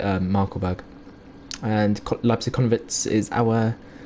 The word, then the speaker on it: Markkleeberg: I pronounce it Markkleeberg.